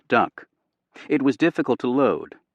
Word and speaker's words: DUKW: Built by General Motors and awkwardly named the DUKW, pronounced duck, it was difficult to load, slow in the water, and susceptible to brake damage from salt and sand.